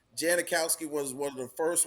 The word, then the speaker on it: Janikowski: and like when they first started seeing names janakowski was one of the first ones they were like huh yeah yeah that's it's Janikowski it's pronounce that correctly um another one I gotta